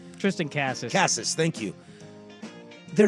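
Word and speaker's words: Casas: Cassis, thank you.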